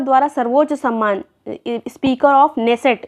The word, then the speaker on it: Knesset: Next है Israel संसद द्वारा सर्वोच्च सम्मान स्पीकर ऑफ नेसेट, इसको ये स्पेलिंग ये है KNESSET, लेकिन नेसेट इसको पढ़ा जाएगा।